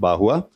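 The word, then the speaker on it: Barrois: It's B-A-R-R-O-I-S, pronounced Bahua, who spoke about the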